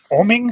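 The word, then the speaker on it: Oeming: How do you say it? Oming. Yep, Michael Oming.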